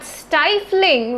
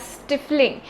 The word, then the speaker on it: stifling: from personal experience here for the longest period of time i thought the word stifling was pronounced as stiffling and i used it